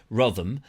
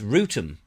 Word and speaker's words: Wrotham: It's not Rotham, it's Rootham. You wouldn't guess, would you? You couldn't guess that from the spelling.